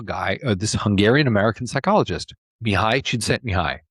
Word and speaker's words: Mihaly Csikszentmihalyi: or this Hungarian-American psychologist Mihaly Csikszentmihalyi. Really long name, lots of consonants in it, right? But that's how you pronounce it.